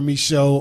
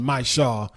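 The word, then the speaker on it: Micheaux: with the same one Oscar Michelle Oscar my Shaw depending on who you ask I believe his family who's still around in Kansas pronouncing my Shaw but uh Oscar Mike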